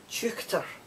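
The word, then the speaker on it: teuchter: h t e r chuchter and it's pronounced c h u c h t e r meaning person from far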